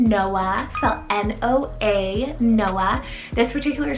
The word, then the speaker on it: Noa: a biblical name here we have the name noah cell n-o-a noah this particular spelling is often used for girls and it's actually a completely different name than noah with an h and this one's hebrew rooted